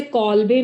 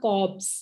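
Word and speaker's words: Kolbe: Cobb's electrolysis, बेटे इसमें ना L साइलेंट है, तो इसलिए इसे कॉल्बे नहीं पढ़ना है। तो this is अ कॉब्स electrolysis.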